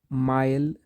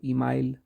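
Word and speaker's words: Emile: उसका नाम था माइल इसको इ आप साइलेंट भी रख सकते हो इमाइल ब लाइनर ब लाइनर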